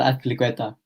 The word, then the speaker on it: Azpilicueta: Cesar Azpilicueta. Spanish way. I've got to pronounce it right. And then just Mason Mount, not as exciting. But he is that consistency, but we have him back with Azpilicueta.